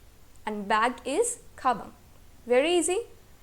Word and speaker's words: 의: Okay, तो इसका pronunciation यहाँ पे नॉर्मल प्रोनाउंसिएशन है, उई. And here it is used as a particle, तो यहाँ इसका प्रोनाउंसिएशन क्या है? ए.